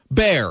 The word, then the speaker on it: Behr: yeah but the H gives listen there's a very famous paint company out there beh R how do you pronounce it Baer better all right all